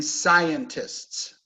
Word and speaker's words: scientists: So if we listen to the words and the stress, how many syllables in scientists? 3, right? Scientists. Scientists. Difficult to say. Scientists. Stress on the first syllable.